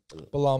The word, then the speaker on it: Belal: Belal Muhammad.